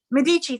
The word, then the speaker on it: Medici: de mis how do you say her name medici into matchmaking medici thank you went into matchmaking mode to find